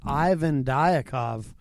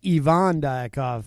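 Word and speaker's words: Ivan Diakov: was my conversation with Ivan died akov or as he says Evon die cough but I'm an American so I pronounced it the American Way all right well we're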